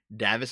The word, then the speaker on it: Davis: Davos police have arrested 2 men after finding them. Actually, hold on. I gotta like chapstick my fucking lips. God damn it. Davis is pronounced like Dave.